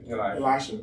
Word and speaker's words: Elisha: How do you pronounce it? It's Elisha or Elisha? Elisha.